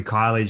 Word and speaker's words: Kiely: the surname correctly it's it sounds like keely but it's actually kylie justin but uh holly